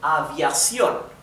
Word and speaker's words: aviación: Remember that in Spanish I told you that all the words in Spanish that carry the stressing in the last syllable, if they also end in a vowel or an N or an S, then they carry a tilde, right? So this one has the stress, the intonation in the last syllable, and it ends with N, therefore we have a tilde on the O, right?